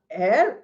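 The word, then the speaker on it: heir: H E I R is pronounced as air.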